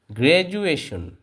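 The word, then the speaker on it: graduation: হবে for example আমরা কিছু এক্সাম্পল দিচ্ছি যেমন গ্রাজুয়েশন গ্রাজুয়েশন এখানে দেখেন এটাকে গ্রেজুয়েশন পড়লে কিন্তু হবে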